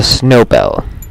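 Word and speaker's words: Snowbell: We need the snow bell. Which is known as it rhymes with Nobel.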